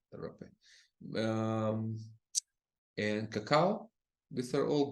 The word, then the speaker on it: rapé: and rape, also hape, depends Mm-hmm. how you pronounce that. It's just easier to say rape, so we use rape. we say rapé.